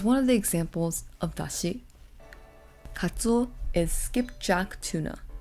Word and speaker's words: dashi: the Japanese pronunciation because Japanese is just Dashi without the da extra da at the end but we see on